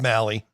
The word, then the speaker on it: Mahle: Mahle, is that how you pronounce his name? Yeah, Taylor Mahle.